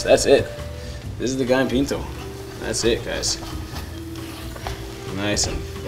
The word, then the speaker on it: Gallo pinto: And then Gallo pinto. Gallo pinto, yes.